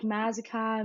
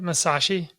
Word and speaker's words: Masaschi: But mainly like Mazakai, Malashalashi, Masashi, but it's never right. So I just let people call me what they want. Did I say it right? Masashi? Yeah, Okay. It's like, yeah, again, you're right.